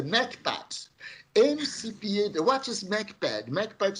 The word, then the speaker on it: MCPAD: So we wrote a model which we call MCPAD, and we pronounce that in our in Portuguese as a MACPAD.